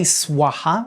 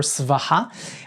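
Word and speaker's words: svāhā: Like for example, we say swaha or svaha, but in Vedic Sanskrit, we know it was suwaha.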